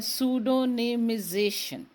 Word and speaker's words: Pseudonymization: मुझे इस लफ्ज़ को ज़रा प्रोनाउंस करने में थोड़ा वक्त लगा था, लेकिन अल्हम्दुलिल्लाह ये है सूडोनिमिजेशन।